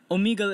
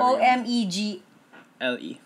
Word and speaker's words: Omegle: Like, let's say, Omegle is a really dangerous place.